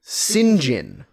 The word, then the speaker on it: St. John: Is that how you pronounce Saint John? I guess in some circumstances, yes. Because I thought they were calling him like Sinjin.